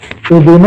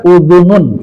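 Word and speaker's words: أُذُنٌ: Udhunu kan domah kan? Udhunun juga domah pen kan? Sama-sama domah tuh. Pertanyaannya adalah kenapa dibaca udhunun bukan udhunu? Ini bacanya udhunun apa udhunun? Itu tanwin, udhunun.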